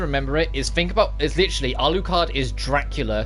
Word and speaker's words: Alucard: So when you put it backwards, then you go, oh, Alucard, Alucard. Now you know, like you remember the U's there if you do Dracula first, because you pronounce the U in Dracula.